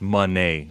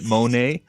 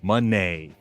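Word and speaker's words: Moné: not saying Monae is everything no it's actually pronounced Monee it's just that idiots like what's his name Ian Rabani and Kevin Kelly that hermaphrodite pronounced it Monae and every other commentator decided to call it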